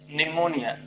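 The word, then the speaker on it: pneumonia: अब कहिएगा सर ये निमोनिया पी साइलेंट होता है, निमोनिया पढ़ा जाता है, समझ गए।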